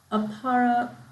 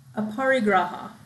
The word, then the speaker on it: aparigraha: the yamas include ahimsa satya astaya brahmacharya and aparra aparigraha i'll say it right so ahimsa is non-harming